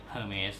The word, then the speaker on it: Hermes: อ ก เ สี ย ง ว่ า Hermes น ะ ค รั บ บ า ง